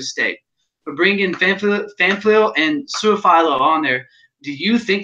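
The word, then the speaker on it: Su'a-Filo: Kevin Fanfleal and Xavier, what do we say, Suafilo? Yeah, Suafilo. Right. Suafilo. That's a hard last name. His name has been mispronounced his entire life.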